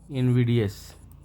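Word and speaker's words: invidious: इसको दोस्तों इन जो ज़्यादा प्रचलन में है, इनविडियस, ये प्रोनाउंसिएशन है इसका, इनविडियस, इनविडियस, अपमानजनक।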